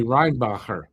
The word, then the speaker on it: Reinbacher: It's really Reinbacher because he's Austrian.